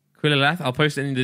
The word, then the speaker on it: Qillallath: So the name is going to be Killerlath. Quillerlath. I'll post it in the Discord so you can see how this is spelled.